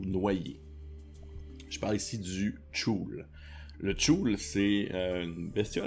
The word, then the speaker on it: Chuul: Bref, le CHUL, j'ai vu comme plein de gens le prononcer de manière différente sur internet. J'ai écouté comme plusieurs vidéos de gens qui parlaient de la créature juste pour entendre leur prononciation. Et celle qui revient le plus souvent est le Chul.